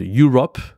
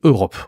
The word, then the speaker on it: Europe: la prononciation parce que en anglais c'est pas la même chose Europe c'est vraiment une prononciation qui est complètement différente et ici c'est Europe ok Asie Asia en anglais